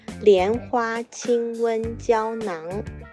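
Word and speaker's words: 连花清瘟胶囊: You pronounce it Lianhua Qinhuan Jiaonan. Lian is Lian Qiao, which is a kind of dried fruit, and Hua is Jin Yin Hua, a kind of flower.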